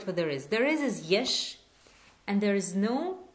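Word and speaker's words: יש: There is yesh, and there is no, it's ein.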